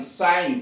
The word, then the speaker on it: sign: जी साइलेंट, SIGN साइन चिन्ह, DESIGN डिजाइन डिजाइन, रचना आकार डिजाइन रचना या आकार।